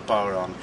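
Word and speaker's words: bodhrán: This is an Irish frame drum, it's known as a bowron. It is pronounced very different from the way it's written. It's written as bodhran, but it's pronounced as bowron.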